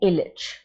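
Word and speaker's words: Ilić: Actually, the pronunciation is Posle Million Godina, After Millions of Years, by Serbian playwright, poet, and politician Dragutin Ilic. This particular C is pronounced as the sound ch.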